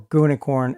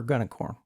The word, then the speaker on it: gunicorn: create our gunicorn socket or gunicorn as many people like to pronounce it since it's actually green unicorn I prefer gunicorn in reality I do